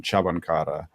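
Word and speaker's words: Cvančara: I'm personally pronouncing the name Cvancara, which it's just based on the German announcers' pronunciations from the weekend.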